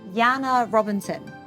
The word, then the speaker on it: Janne Robinson: and joining me today is poet author feminist Jana Robinson did I pronounce it correctly you nailed it because the